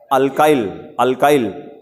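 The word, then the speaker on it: alkyl: आर, क्या कहते हैं, अल्काइल या एल्किल, जो प्रोनाउंसिएशन यूज करिए।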